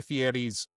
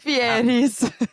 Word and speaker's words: Fieri: I'm at Guy Fieri's sandwich joint. Fieris. Guy Fieri, you got to say it right. Fieri.